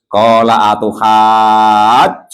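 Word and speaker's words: قَالَ أَتُحَاجُّونِّي: Nah ini Pak Janis biasanya payah bacanya ya kan. Qala atuhajjuni.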